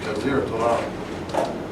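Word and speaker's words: جزيرة العرب: So I can pronounce that easy in English because I see it's Jazir Arab, and I know by the accent it's a long I, Jazir Arab, which means what in Arabic?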